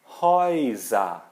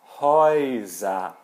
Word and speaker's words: Häuser: Então, se aparecer A com trema, U, é como se fosse EU, que a gente pronuncia OI. Exemplos: Häuser. Häuser.